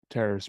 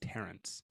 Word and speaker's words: Terrace: Matt say his name Terrace Marshall okay yeah people are saying people people are saying you've been saying Terence there you're mishearing yes but whoever